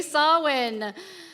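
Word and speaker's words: Samhain: how do you say that yes yes exactly sawwin um sawen was actually the Celtic New Year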